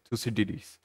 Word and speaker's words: Thucydides: this act to cytus however you understand that the correct freak pronunciation is two cdds for the purpose of this video I'm going to pronounce it as decidus we're going to understand